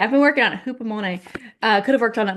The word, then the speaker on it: Hupomone: Hupomone, if I'm saying it right, Yes, Hupomone. good. Yeah, I've been working on it. Hupomone.